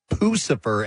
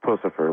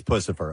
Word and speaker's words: Puscifer: I've heard Puscifer, I've heard Puscifer, I've heard Puscifer, as in Lucifer. And do you prefer any particular way, Maynard? It's Puscifer, like Puss in Boots. Like Puss in Boots. It is Puscifer.